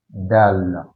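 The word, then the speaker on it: دال: Mais, si vous écrivez ça comme ça, sans le point, donc ça c'est dal.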